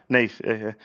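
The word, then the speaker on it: Naas: Am I pronouncing Nate? Nate. N A S. Nate.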